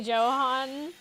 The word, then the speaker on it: Johan: It's actually Johan, but no worries. I can I never I'm never able to tell living in a country where the pronunciation for the J is like a Y.